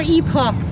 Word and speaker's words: Epoch: epic preservation uh and it is epic right e-p-o-c-o-p-o-c-h or e-paw if you're fancy well that's what dan that's what dan says i'm like damn what do you do i mean it's not neither is wrong i mean i know